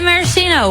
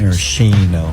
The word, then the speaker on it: maraschino: Is it a silent S or a silent C? I think it's like a CH. Maraschino.